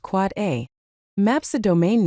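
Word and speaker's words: AAAA: An Quad A record, pronounced Quad A, maps a domain name to an Internet Protocol version 6 address.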